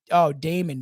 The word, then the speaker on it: Demon: fun because that guy his name is oh Damon but it's it's like it's spelled demon that he was a